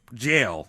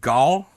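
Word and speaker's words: gaol: sent to the Litchfield Gall is that how you pronounce that g-a I'm not well g-a-o-l is pronounced Jail jail yes spelled wrong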